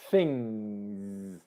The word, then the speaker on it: things: I was teaching this to a client yesterday, the word things, and it is a Z sound at the end, things.